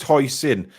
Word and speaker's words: Huijsen: He says it's pronounced Huijsen.